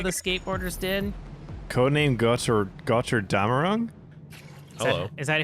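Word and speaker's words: Götterdämmerung: Codename Götter Damerung? Hello. Is that how you pronounce it? Götter Damerung. Gotterdammerung.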